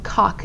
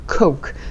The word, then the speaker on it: coke: 왜냐하면 코크를 우리가 코로 발음을 해야 되는데 약간 원어민처럼 발음하기 위해서 cock 이런 식으로 발음을 하는 경우를 종종 봅니다. cock는 뭐예요, 여러분? 남자의 성기예요. 조심하셔야 돼요. cock가 아니라 coke. 정확하게 coke.